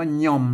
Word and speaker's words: ย่อม: ลนา นะ ครับ เออ นี่ อ่าน ว่า ย่อม นะ ก็ ไป จะ หย่อม นะ ครับ อ่าน ว่า